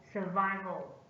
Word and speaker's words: survival: Survival. Survival. Survival is a noun, is stressed on the second syllable.